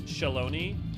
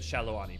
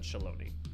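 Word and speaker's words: Shaaloani: and the tacos uh if you want to go by how it's pronounced by most of the people in it it's Shalon um I did shallow before it came out I said shalani but the way it's voiced it's done shalone yeah in the game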